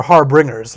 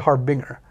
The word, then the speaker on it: Harbinger: Because everyone thought they were Harbringers, like, you know, Elvish Harbringer or, like, Merfolk Harbringer. But it's actually a Harbinger.